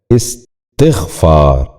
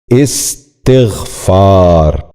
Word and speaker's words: استغفار: بھی غور کیجئے، اساتذہ۔ دوسرا لفظ ہے استغفار۔ یہ غلط تلفظ ہے، درست تلفظ ہے استغفار۔ دوبارہ سنیے، استغفار۔ بچوں آپ بھی غور